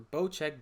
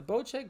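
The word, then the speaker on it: Bocek: bosek bow check the bow check bow i saw the pronunciation right under the picture the bow check bow is gonna be a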